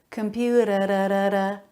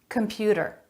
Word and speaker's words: computer: that with a flap computer a flap instead of a t sound computer computer middle syllable stress if